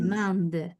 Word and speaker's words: allemande: Allemande, muy bien. Le agrego la E, pero no la pronuncio.